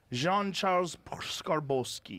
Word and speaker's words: Jean-Charles Skarbowsky: Jean-Charles Skarbowsky.